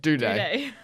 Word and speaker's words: Doherty: Has he surpassed Doherty or Doherty or however you say his name? Duday.